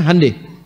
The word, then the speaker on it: Hyundai: Hyundai itu dibacanya hande.